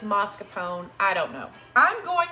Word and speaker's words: mascarpone: um i had some mascarpone mascarpone mascarpone potato potato i don't know what you say it's spelled mascarpone i don't know for some reason i've always said um i've always said marscapone derrick wants to what